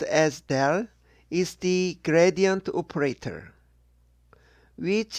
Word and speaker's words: del: there is the ficks first law this symbol pronounced as del is the gradient operator which is the first